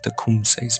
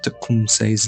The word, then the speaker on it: Tecumseh: not the location, of Tecumseh's birth. They also convey something of the significance of Tecumseh's name. Even the pronunciation is elusive. One spoke both English and Shawnee fluently, gave it as Tecumseh.